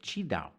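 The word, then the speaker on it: QiDao: to look them up that is spelt q-i-d-a-o but you say chi dao so chi dao is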